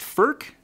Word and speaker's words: Furch: I've heard it pronounced firk and I've heard it pronounced furch but I'm pretty sure my sources are now indicating that it is truly first so we're gonna go with furch first guitars are made